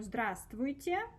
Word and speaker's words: Здравствуйте: So, see, that's our здравствуйте, да, здравствуйте, да, so remember we don't pronounce this v.